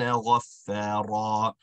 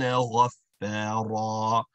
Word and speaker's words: غَفَّارًا: The first point is that our fa has a connect and hold. So we want to ensure that its sound is being connected to the line. So غَفَّا, connect, hold it. Then you complete the stretch associated with it.